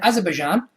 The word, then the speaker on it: Azerbaijan: An 8-woman group of older ladies from Russia have qualified for the Eurovision 2012 in Azerbaijan, and that is how you pronounce it, with their song Party for Everyone, Party for Everybody, having fought since 2010 to represent their country.